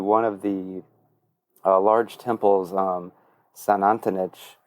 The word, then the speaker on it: Xunantunich: One was to one of the large temples, Xunantunich. That starts with an X, so I always was like, are they saying St. Anthony's? And no, it's pretty close to pronounced Xunantunich.